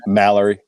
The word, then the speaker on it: Mallory: Mallerie.